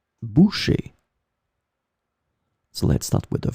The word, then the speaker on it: bouchée: In this lesson, we will see together two words that are written differently but pronounced the same way. Boucher, boucher.